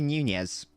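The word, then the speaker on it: Núñez: newnia or or nunez it is apparently nunez so i'm actually doing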